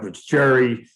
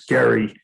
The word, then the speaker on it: Gerry: one of them is jerry of the gerrymander i think he's called i think his real pronunciation is gary but but in any